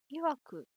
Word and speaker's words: 曰く: としてんのいわく親しみ曰く」って読むこれ勇ましくか勇ましく